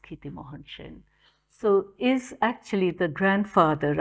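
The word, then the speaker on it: Kshitimohan Sen: in it's spelled that way but it's pronounced Kitty Mohan Shin so is actually the grandfather of amateursen the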